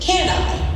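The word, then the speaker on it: Kani: Carl Williams changed his name to Carl Kanai, pronounced Can-I, to reflect the mantra he awakened with every morning. Can I do it?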